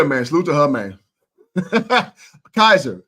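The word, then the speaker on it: Kysre: Kaiser is how you pronounce her name.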